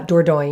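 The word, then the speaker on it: Dordogne: you more about it it's spelled D o r d o g NE e it's a it's a difficult to pronounce name if you're not a native French speaker uh Doro is how you would say it and then we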